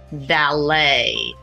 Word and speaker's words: valet: is not the left that t is silent valet the third word